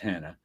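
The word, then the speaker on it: Hana: new story called Hannah ha n a pronounced Hannah don't ask why I didn't just spell it that way in March so I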